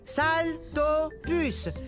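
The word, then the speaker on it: Saltopus: suis un salto puce ça se prononce salle dort plus ce qui veut dire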